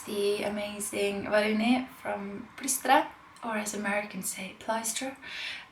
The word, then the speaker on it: Bristol: amazing rolling it from Bristol or as Americans tape Lystra whoo but it's Bristow in case you're American and you were wondering how to pronounce it and she's she